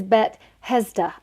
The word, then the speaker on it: Bethesda: on the list is BET hezda and I was like wait what why did you just say it like that bet hezda and he's like oh just the same as like Bethlehem which we know Bethlehem